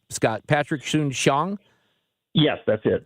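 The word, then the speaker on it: Soon-Shiong: had with the times owner how do you pronounce his name Scott Patrick shun Shong yes that's it right and he called you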